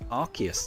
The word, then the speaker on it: Arceus: And Pink Horizons, according to the Pokemon Encyclopedia, Arceus is pronounced Arceus.